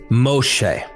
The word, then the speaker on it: Moshe: The word is Moshe. And that's how you pronounce it, Moshe.